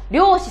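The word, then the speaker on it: 漁師: 漁師さん、この読み方ですね。漁師さんって言います。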